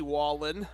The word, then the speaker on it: Wallen: shout out to Tony Wallen on the chat uh it is pronounced wallet Wallen all right fantastic yeah